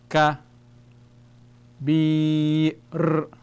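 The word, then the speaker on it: كبير: So we have ka, bi, r, kabir, kabir, kabir.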